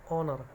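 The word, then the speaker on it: honour: ही इज़, देखिए ऑनर में पहला एच है वो साइलेंट है, उच्चार होता है ऑनर, ओ से होता है इसलिए स्वर है इसलिए आगे एन।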